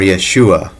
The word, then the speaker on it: Yeshua: And that name is Yahshua or Yahushua or Yeshua. Those are the three ways that I've heard it pronounced, and so I'm going